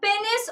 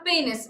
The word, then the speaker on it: penis: A penis or penis. Both pronunciations are correct.